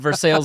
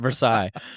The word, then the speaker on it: Versailles: You went Versailles, Indiana, and I went Versailles.